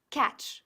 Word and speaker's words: catch: Seguiremos con el verbo to catch, que pronunciamos catch, como si la T no existiera.